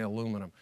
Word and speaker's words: aluminium: I spell it aluminium and I say aluminum.